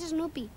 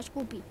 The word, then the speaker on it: Snoopy: Bueno, en realidad es Snoopy. Pero él no sabe pronunciarlo y le llama Scoopy.